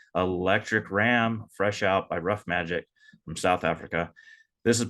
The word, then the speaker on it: Ruff Majik: please check them out rough magic that's spelled r-u-f-f-m-a-j ik so there's no c in there it's uh K instead rough magic dot